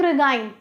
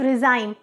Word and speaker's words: regime: Conservative रिगाइम या conservative रिजाइम, आप लोग इसको किसी भी तरह से प्रोनाउंस कर सकते हो, या तो रिजाइम या तो रिगाइम।